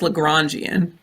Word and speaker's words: Lagrangian: it's called It's pronounced lagrangian and it's named after like LaGrange the famous mathematician okay and here's here's